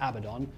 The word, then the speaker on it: Abaddon: edition one of them is I need to pronounce it Abaddon oh and the other one has been shake